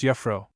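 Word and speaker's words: juffrouw: You are good, Jaffro. Miss Young lady, pronounce Yafro.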